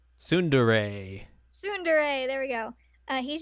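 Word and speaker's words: tsundere: Sundere.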